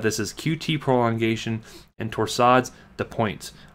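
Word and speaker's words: torsade de pointes: as qt prolongation and torsades the points or just a torsade de pois if you wanted to be a little bit more fancy and pronounce it like the french do but what we're going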